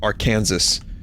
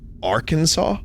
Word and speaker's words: Arkansas: plate in the parking lot um and she pronounced it Aransas I don't she was not in America a